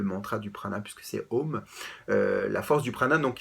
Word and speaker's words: Om: Om peut se prononcer donc de la façon suivante. On part donc du fond de la gorge, qu'on commence par A, Om, pour finir donc sur les lèvres.